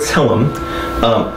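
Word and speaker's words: צֶלֶם: This is the word telem, the word for image. If you look at it, it's S, the dot, so it's, instead of selim, it's the T-S-L, telem, accent on the first syllable.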